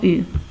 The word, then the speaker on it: eu: il, le verbe avoir, une belle surprise, de beaux cadeaux. Alors, le verbe avoir, c'est, je vais voir encore ici, avoir, oui, c'est avoir. L'auxiliaire de avoir, c'est eu, EU, se prononce U, EU.